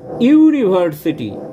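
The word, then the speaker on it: university: যেহেতু উচ্চারণ হচ্ছে তাহলে প্রথম উচ্চারণটা আসছে ওয়াই এর এবং ওয়াই হচ্ছে কনসোনেন্ট তাহলে যেহেতু কনসোনেন্ট সাউন্ড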